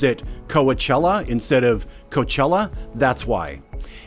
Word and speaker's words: Coachella: direct me to the shortest route to the Coachella Valley and the big carrot festival, therein? - Incidentally, if you meet someone who pronounces it "Coa-chella" instead of "Coachella," that's why.